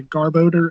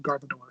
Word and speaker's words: Garbodor: like you say crystals it is different emphasis like ones focused on garb as in garbage and the other ones focused on the odor part so yeah garb odor and then guard the door so I've had both